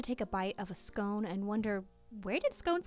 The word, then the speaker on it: scone: could be derived from scone which rhymes with gone a gaelic term for